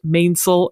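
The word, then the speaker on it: mainsail: and your top sale more commonly pronounced mainil and topsil I've never heard of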